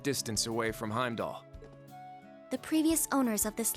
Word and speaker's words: Heimdallr: of those recap videos they say heimdallr because it has an r at the end but like very obviously that r is silent and every character in the game says heimdall so i don't know